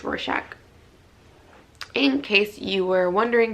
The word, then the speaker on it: Rorschach: It's Rorschach, in case you were wondering, but it isn't available anymore, so I guess that's not that helpful.